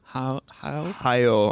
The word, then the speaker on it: Hayao: There's how do you pronounce his first name? Hayao, I guess.